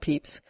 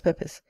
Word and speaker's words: Pepys: The diarist undoubtedly pronounced it Pepys, and the lineal descendants of his sister Paulina, the family of Pepys Cockerell, pronounce it so to this day.